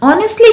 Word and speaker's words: honestly: Honestly का मतलब इसमें H साइलेंट होता है. ठीक है, तो आप इसको honestly बोलते हैं.